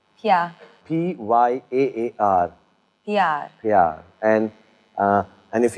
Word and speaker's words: प्यार: Pyar. Pyar.